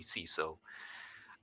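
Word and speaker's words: CSOR: and all that so cso would be see so uh they do things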